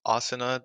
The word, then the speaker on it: Asuna: how it's pronounced but it is pronounced asana the japanese way because i got it from you know an anime but yeah okay and